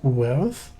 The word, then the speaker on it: Werth: Werth means so, pronounced Werth, with a hard th sound.